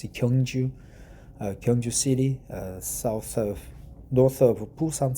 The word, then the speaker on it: Gyeongju: 4th, and we had an APEC summit in Gyeongju City. Some pronounce it Jiangzhou, but it's Gyeongju, Gyeongju City, north of Busan City.